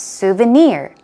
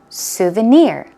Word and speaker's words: souvenir: pronounce it correctly okay the stress goes on the last syllable so its souvenir souvenir one more time souvenir good job isolated it